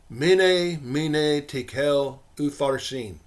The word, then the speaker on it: Mene, Mene, Tekel, Upharsin: English letters, it looks like this, and is pronounced Mene, mene, tekel, upharsin.